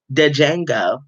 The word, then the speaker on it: Django: though django said himself the d is silent dejenga you remember when leonardo